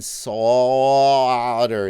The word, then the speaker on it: solder: Slartibartfast says the L in solder is silent.